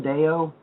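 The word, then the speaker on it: Deyo: But yeah, it's Stan Deo. And Deo is spelled D-E-Y-O.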